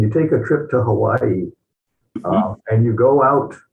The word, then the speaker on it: Hawaii: minute High one language you pronounce every letter so it's Hawaii they only have a